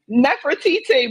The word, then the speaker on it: Nefertiti: Nefertiti, but you can say TT or whatever.